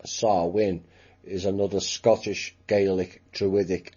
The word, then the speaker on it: Samhain: october the 31st all hallows eve halloween or samhain which is not exactly pronounced that way it's pronounced sarwin sexual and blood rituals and it involves sexual